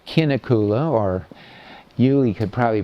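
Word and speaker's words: Kinnekulle: So this is a quarry at a place called Kinakula or Julie could probably pronounce it better because she's a Swedish major. I think they say shinakula for some reason. Local people do.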